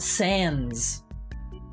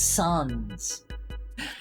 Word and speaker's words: Sans: It's pronounced like sand. It's not pronounced like. It's not sands. It's suns.